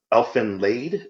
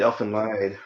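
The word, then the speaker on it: Elfen Lied: Elfin lied because it's spelled Lied, so lied, yeah.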